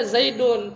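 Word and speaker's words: زيدٌ: Tapi kita bacanya Zaidun, padahal kita nulisnya nggak begini.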